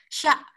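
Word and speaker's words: しゃ: Sya. Sya berarti ini huruf si-nya ada tambahan huruf ya kecil. Itu ada sya. Dibacanya jadinya sya.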